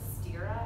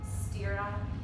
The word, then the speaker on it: sthira: In Sanskrit, we call them the sthira and the sukha in our practice. I'll spell those out for you. Sthira is S-T-H-I-R-A, and that means steadiness.